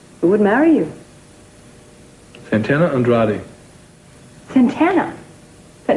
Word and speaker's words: Andrade: Andrade, that's right. You must roll your R's when you say it all the time now.